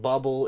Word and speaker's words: Bobl: It's probably supposed to be pronounced Bubble in English, but this game is not from North America, so I'm calling it Bobl because that's what it says on the screen.